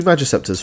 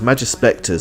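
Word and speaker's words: Magispecter: Yeah, and that's cheapy Magiceptors for you. Is it Magiceptors? No, it's Magispectors. I keep saying it wrong. Magiceptors. You'll normally say it's Magispector.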